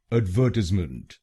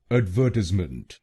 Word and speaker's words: advertisement: British English में इसको बोलेंगे एडवर्टीजमेंट। एडवर्टीजमेंट।